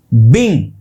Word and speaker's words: being: ये जो है BEINGA, इट is pronounced बिंग। Okay, एक बार बोलने की कोशिश करो, इट is pronounced बिंग, BEING बिंग, एंड इट is pronounced bean. Come on, bean, bing, bean, bing. You can see the visible difference. Both are very different.